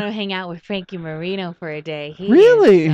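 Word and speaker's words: Moreno: not Frank Marino and it's spelled differently it's spell Frankie Marino is actually spelled m o r e n o not like the other okay yeah and uh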